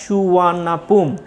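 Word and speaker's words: สุวรรณภูมิ: তাহলে বলছে প্লেনটি 4:55 অর্থাৎ বিকেল, PM দেয়া আছে, দেখো বিকেলে 4:55 কি করেছিল, সুবর্ণভূমি এয়ারপোর্টে অবতরণ করেছিল। The name সুবর্ণভূমি is pronounced at সুওয়ার্ণাপুম। এই সুবর্ণভূমি এয়ারপোর্টটা কি হিসেবে উচ্চারিত হয়?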